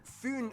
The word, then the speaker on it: Fyn: It is connected to Fyn Island, not Finn Island, by the Great Belt Bridge completed in 1998.